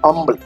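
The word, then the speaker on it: humble: এইচের উচ্চারণটা হবে না, আম্বল, আম্বলি।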